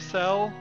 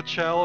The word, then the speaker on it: Chell: Where does the story of Cell, or Chell if you want to call it Chell, C-H-E-L-L, I think it's supposed to be pronounced Cell.